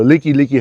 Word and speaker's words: Like: The service manager that helped me, his name was Isaiah Like, L-I-K-E. He's Hawaiian. So the Liki Highway, like it's spelled L-I-K-E.